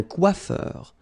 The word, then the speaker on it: coiffeur: Remember, O-I goes like wa, quoi, and then E-U-R, heure. Un coiffeur.